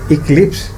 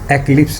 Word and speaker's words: eclipse: और इसका देखें ज़रा, आई है ई की बजाय, तो आपने क्या करना है, इसे इक्लिप्स प्रोनाउंस करना है, एक्लिप्स नहीं।